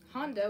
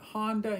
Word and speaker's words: Honda: We've got Honda, which is another type of car that Americans drive and mispronounce. Yeah. A lot of these cars are mispronounced. But basically, that's not too bad. Honda, you know, Americans want to say Honda, and Japanese people will